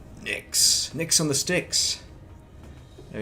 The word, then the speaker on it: Nyx: That's how you pronounce it. Nyx. Nicks.